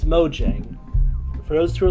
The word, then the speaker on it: Mojang: fact that Mo Yang hasn't why do you pronounce it it's Mojang for those who are like oh it's Mo Yang it's it's Mojang oh that's how it's pronounced